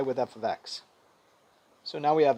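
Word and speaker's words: f(x): You don't say f parentheses x, although if you did,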